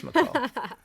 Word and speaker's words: McCall: Some people say McCall. Yeah. So that's a very nice way of saying you're wrong. That's a nice way of saying you said it wrong. I've heard it both ways. McCall. McCall sounds better, so it's McCall.